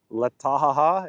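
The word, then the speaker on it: Taha'a: It sounds like I'm laughing.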